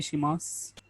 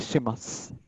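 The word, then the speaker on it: します: अब प्रोनाउंसिएशन पर थोड़ा सा गौर कीजिए कि शिमासु है, लेकिन इसका प्रोनाउंसिएशन होगा शिमास। दोजो योरोशिकु ओनेगाई शिमास।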